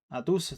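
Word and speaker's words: Hattusa: Atusa está bien pronunciado.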